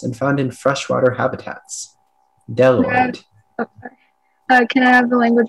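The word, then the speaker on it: bdelloid: Speller 53, your word is deloid. Deloid. Can I have the definition, please? Deloid means relating to a class of rotifers that are entirely made up of females and found in freshwater habitats. Deloid.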